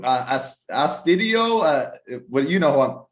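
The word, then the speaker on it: Astudillo: That is 5 plays of the day from us and the team for how do you pronounce his name? Astudio.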